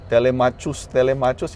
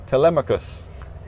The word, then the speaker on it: Telemachus: Akala ko, Telemachus, yung pala, Telemachus. His name is Telemachus.